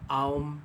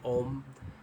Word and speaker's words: Om: And so, just to further mention, Aum is the Sanskrit way of pronouncing that. The Tibetan way, they say Om.